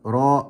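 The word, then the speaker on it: ر: the lateral incisors raw it's very important that you pronounce the letter raw correctly without rolling it okay let's move on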